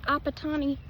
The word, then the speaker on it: Apatani: Apatani tribe of some mountain in something of Pradesh, India.